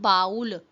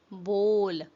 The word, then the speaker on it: bowl: It's not baul, it's bowl. Bowl.